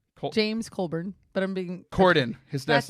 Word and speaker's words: Corden: Colburn? James Colburn. But I'm being... Corden.